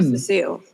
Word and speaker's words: Cecile: Do you mind if I call you Cecile? Oh, not at all. That's the correct pronunciation.